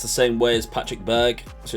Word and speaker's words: Berg: The CH in Gravenberch is pronounced the same way as Patrick Berg, so it's Gravenberg.